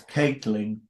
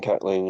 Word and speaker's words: Catling: That's Caitlyn. Yeah, which some people think that's how my name is pronounced as well. Good. Um, but it's if you type Catling and you put Twitter